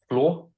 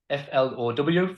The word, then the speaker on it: flow: calisthenics which is uh floor below if I'm pronouncing that right what is it what is it oh f-l-o-w floor oh flow flow okay and it's kind